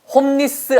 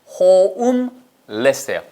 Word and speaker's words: homeless: 이거 홈리스 아니에요. 발음이 홈리스 아니고요. 호음하고 르르르 살리셔야 돼요. 아시겠죠? 절대 한국말의 자음접변 여기다 적용시키시면 안 돼요. 그러니까 홈리스, 홀리스 다 아니고요. homeless예요. homeless예요. homeless.